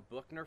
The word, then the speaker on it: Büchner: a lab piece that's called a bookner funnel or a buckner funnel depending on how you're going to pronounce it but it basically has